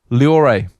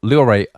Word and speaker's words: Loire: Now, when I did my French GCSEs, as we call them over in the UK, I was taught to pronounce to the last vowel. So that'd be the E.